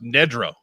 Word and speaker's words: Nedrow: Remember, it's pronounced Nedrow. And my reply was like Ned Beatty, which I thought made perfect sense.